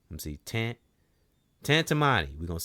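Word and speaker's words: Tantamani: Tantammani. Tantammani. Let me see. Tantammani. We going to say it like that. Tantammani.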